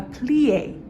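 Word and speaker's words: plié: in preparatory she's going to demonstrate now a plie plie is bending of the knees it's spelled p-l-i-e and victoria just demonstrated demi plie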